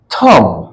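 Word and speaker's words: thumb: टम के माने समाधि टी एच यू एम बी थम थम नहीं बोलेंगे अंगूठा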